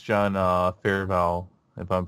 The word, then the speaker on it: Favreau: One because it's John Favreau, if I'm pronouncing that right. Favreau.